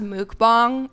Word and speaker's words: mukbang: It's pronounced mukbang.